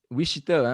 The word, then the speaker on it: Wichita: Ah oui, oui, Wichita, hein, c'est ça? Ouais, En, an- c'est la place. en anglais, on dit ça comment? Wichita, même Ah, affaire.